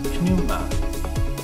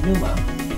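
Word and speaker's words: πνεῦμα: Notice I said pneuma. It's not silent in Greek. We do pronounce it. We don't just say pneuma.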